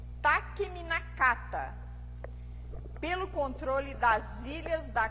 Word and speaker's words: Takeminakata: A pronúncia é Takemikazuchi e Takeminakata, pelo controle das ilhas da costa de Izumo.